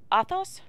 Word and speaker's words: Athos: So it's Athos, and Porthos. Athos and Porthos.